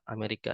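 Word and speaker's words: أمريكا: Ya, Amerika itu adalah Amerika, negara Amerika. Dibacanya kalau dalam bahasa Arab, Amerika.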